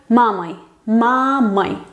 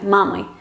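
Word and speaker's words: мамой: En instrumental, cuando es compañía, por ejemplo, con mi madre, pues sería mamai. Sí se escribe oi, pero la o se pronuncia reducida, mamai.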